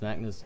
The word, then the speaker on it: Magnus: did he do that he's Magnus he's not called naggers he's actually Magnus it's good if I